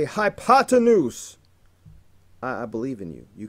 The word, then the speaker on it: hypotenuse: hypotenuse look at it look at how it's spelled hi ha 10 whose hypotenuse you can do it next time you're called on proudly boldly say hypotenuse I believe in you